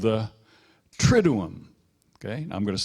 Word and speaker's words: Triduum: But Triduum, it looks like it should be pronounced Triduum, but it's really Triduum. Remember Trinity, Triduum.